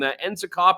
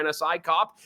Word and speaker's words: NSICOP: this foreign interference report from enop or nsic cop I hear both pronunciations this is a report